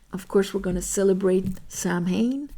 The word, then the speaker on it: Samhain: course we're gonna celebrate Samhain Charmaine if you say it like that Halloween and it's a